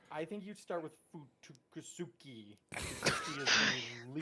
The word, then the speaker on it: Fuyutsuki: And then also too, we get more backstory on Gary's favorite pronunciation for the episode, Fuyutsuki.